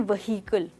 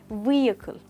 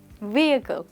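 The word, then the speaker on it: vehicle: तो यहाँ पर ह की साउंड तो आ ही नहीं रही है। लोग अक्सर कहते हैं व्हीकल, बट दोस्तों वो एक गलत प्रोनाउंसिएशन है। हम इसको कहेंगे व्हीकल।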